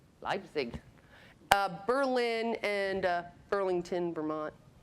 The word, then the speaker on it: Leipzig: um northern europe singapore helped me lipsy how do you say that leipzig berlin and uh burlington